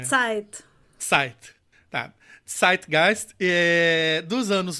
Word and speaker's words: Zeit: Eu nunca sei se é Zeit ou Zeit. É Zeit.